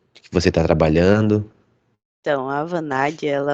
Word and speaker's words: Avanade: E quando você fez faculdade, hoje você está trabalhando na Anaveide? É a Vanade. Avaneide, né? A Vanade. Avanade, tá?